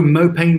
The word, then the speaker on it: mopane: Was that in Zimbabwe or was it in another country where they were saying moonbeam? Is that how you pronounce it? I've been saying mopane. Is it moonbeam? Or is that something else? Oh, mopane worms.